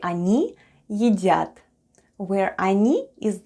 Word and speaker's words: они: When we need to say "they are eating" in Russian we say /anee yedyat/, where ОНИ /anee/ is "they" and ЕДЯТ /yedyat/ is "are eating."